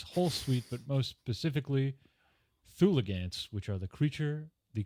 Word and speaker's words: Thulgant: And two, let's not put an extra syllable in this crazy creature's name. It's not a Thulgant, it's a Thulgant.